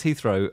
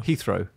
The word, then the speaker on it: Heathrow: the extra customers ouch I love the way you pronounced Heathrow two different ways though and then he throw Heathrow it's Heathrow isn't it I was so